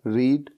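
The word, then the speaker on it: read: क्रिया है वह है रीड रीड की थर्ड फॉर्म क्या होती है रेड यानी कि स्पेलिंग तो सेम होती है लेकिन बोलने का तरीका अलग होता है और उसके बाद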